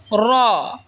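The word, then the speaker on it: راء: এরপর হলো র। র জিহ্বার আগার পিঠ তার বরাবর ওপরে তালের সঙ্গে লাগায় উচ্চারণ হবে র।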